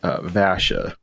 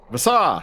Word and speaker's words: Vasa: You are pulling up just outside of Vasha. Or Vasha. However it's pronounced. Vasa!